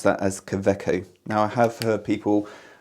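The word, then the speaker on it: Kaweco: commonly used but anyway interestingly the w we pronounce that as kaveco now i have heard people uh from various countries around the world which aren't german speakers and pronounce it as cowecko but no it's koveco so that's just a little bit of information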